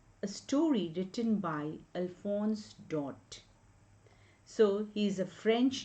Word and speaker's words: Daudet: Now the last lesson is a story written by Alphonse Daudet. So he is a French novelist. So when we pronounce Daudet, it is not Daudet but it is Daudet.